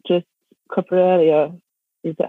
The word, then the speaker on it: coprolalia: I didn't know that Tourette was not just coprolalia. Is that how you say it? Yeah, coprolalia.